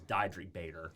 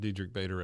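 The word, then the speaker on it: Diedrich Bader: today up until today I was saying his name wrong I always thought it was dri Bader oh dri yes dedri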